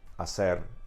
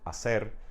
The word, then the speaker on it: hacer: But that is why we have these silent H's written in Spanish in words like hablar, hecho, hacer, okay?